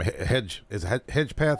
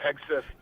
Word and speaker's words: Hegseth: Hedgepeth. How do you say his last name? Yeah, Hegseth.